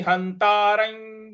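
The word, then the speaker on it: हन्तारं: है, तो वेत्ति हंतारं, हंतारं ह के बाद जो आधा न है उस पर हमको आघात देना है, और र पर जो अनुस्वार है उसका उच्चारण हमें यो इस प्रकार से ले आना है, यो, क्योंकि उसके आगे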